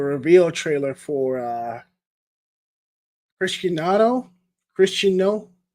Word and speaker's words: Cristiano: trailer for uh Christiano Christiano was how you pronounce his name chist Christiano Ronaldo and